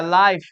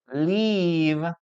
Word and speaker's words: live: We're going to use the um the vowel I, okay? Live. Live. Leave. Leave. Live.